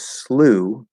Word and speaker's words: slough: and canadian english and that pronunciation is slew um like the past tense of sleigh to slay a dragon i exclude the dragon